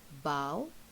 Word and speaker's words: bow: see the first one bow and bo so here the pronunciation is slightly different when you bow that